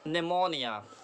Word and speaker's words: pneumonia: एन होगा, तो पी जो है एन के बाद, जो एन के पहले पी आता है वो साइलेंट होता है. ठीक है, निमोनिया, repeat after me, निमोनिया, निमोनिया.